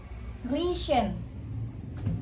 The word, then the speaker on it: riechen: Terus kalau ini dibacanya riechen.